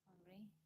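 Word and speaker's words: Henr': HENR apostrophe Everybody call her Henry. Some people call her Henry. Her family call her Little Henry. I just say Mama. The French pronouncing Henry is Henri.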